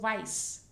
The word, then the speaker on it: weiß: Again, you can see here this sign of beta, Doppel-S, which you could see here in Größe. So weiß.